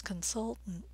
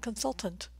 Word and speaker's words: consultant: my word here is consultant consultant and notice I'm stressing the second syllable the vowel sound as in mustard and the T's are a bit reduced aren't they that consultant consultant you learn more